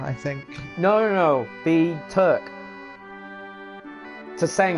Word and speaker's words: Tseng: Tseng or Tsong. Sung. Sung. I know it sounds strange, but it is. It's Sung. Yeah.